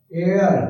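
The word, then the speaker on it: heir: ये देखो हेयर, एयर, हेयर, H silent है, N।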